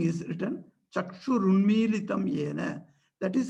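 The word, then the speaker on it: चक्षुरुन्मीलितं येन: So the spelling is written Chakshur Unmilitam Yena. That is how it is pronounced also.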